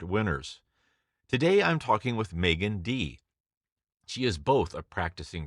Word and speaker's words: Meaghan Dee: we are again and we have with us Megan D and did I pronounce that correctly yes you did all right